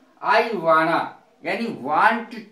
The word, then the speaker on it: wanna: वाना, वाना WANNA, और गॉटा की स्पेलिंग है GOTTA।